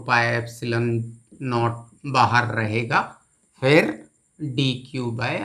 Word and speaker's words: rho: पहले गया linear charge density lambda, surface charge density sigma, और वॉल्यूम चार्ज डेंसिटी का सिंबल है रो। ये सिंबल को हम पढ़ते हैं, प्रोनाउंस करते हैं रो।